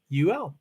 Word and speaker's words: Louisville: Louisville, Louisville, 2 syllables. Can't be 3. It's not Louisville. No, you know what I mean. Louisville is 3 syllables. Louisville is 2 syllables. And spell it. Louavul.